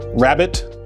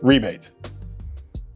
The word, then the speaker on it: rabbet: Our next term is one word with two different pronunciations and that's rabbit or rebate. Not to be confused with rabbit or rebate. The difference in pronunciation is basically regional.